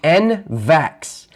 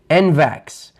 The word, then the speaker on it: NVAX: It's pronounced NVAX. N as in Nancy, V as in Victor, A as in Apple, X. NVAX.